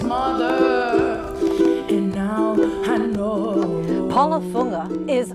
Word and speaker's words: Fuga: Paula's last name is spelled fugga and it's pronounced funga well let's talk about this wonderful honor you've